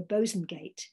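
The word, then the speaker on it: Bosanquet: the paper's literary editor theodora bozengate that's actually how she her name is meant to be pronounced i gather um theodora bosengate recorded in her diary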